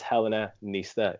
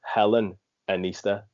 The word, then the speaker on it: Helena Nista: Did I say it right? It's Helena Nista, isn't it? That's correct, yes. Because for ages I was reading it just from your Instagram as Helen Nista, like Oh, separate that way.